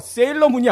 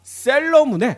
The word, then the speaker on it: 셀러문: 이거 발음을 잘해야 돼요. 세일러문이 아니라 셀러문의 노한나님을 모셨습니다.